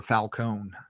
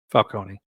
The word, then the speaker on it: Falcone: And are you a Falcone or a Falonee guy? Falcone. Okay. I like Falcone. I like that pronunciation better.